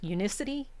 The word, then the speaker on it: Unicity: ever heard of uni unicity? I don't know if you say unicity." Unicity. Did I spell it right on my little No, it's Yeah, it's like unicity. So, uni city.